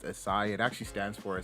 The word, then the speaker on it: ASYCI: do my name is assai a lot of people don't know or know how to pronounce my name but um it's pronounced acai it actually stands for